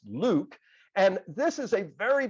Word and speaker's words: LIWC: invented linguistic inquiry word count or pronounced liwc pronounced Luke and this is a